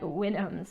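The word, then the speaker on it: Houyhnhnms: known as the wynnums it's supposed to be like winnums like you're supposed to like nail like a horse the way it's spelled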